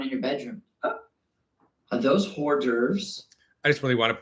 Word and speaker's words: hors d'oeuvres: I love hors d'oeuvres. It's pronounced hors d'oeuvres.